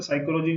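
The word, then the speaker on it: psychology: तो साइकोलॉजी के लिए पी भी आता है ना, पी साइलेंट होता है।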